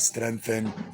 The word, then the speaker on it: strength: You're going to have to bite the age of your tongue like you want to say th or th in Arabic.